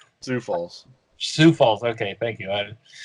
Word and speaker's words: Sioux Falls: Geez, I feel like an idiot that I can't pronounce. It's Sioux Falls. Sioux Falls.